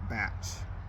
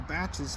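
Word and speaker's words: Bach: He pronounced it batch. But I didn't.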